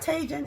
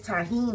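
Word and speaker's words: Tajín: I think it's pronounced taheen or something like that cuz the J is not it's not tagen and it's not tajin. It's taheen or something like that.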